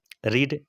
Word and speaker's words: read: रीड spelling रेड, रीड RED पढ़ना। V2 READ spelling same रहेगा लेकिन उसको रेड पढ़ना है। V3 READ उसको भी रेड पढ़ना है।